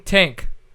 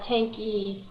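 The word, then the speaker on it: Tanke: going to be tank how did I screw it up it's very wrong isn't it it's actually uh tanky tanky it's not a silent e no oh What ethnicity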